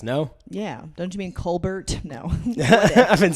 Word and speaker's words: Colbert: cold air yes no yeah don't you mean Colbert no I've been saying it wrong this entire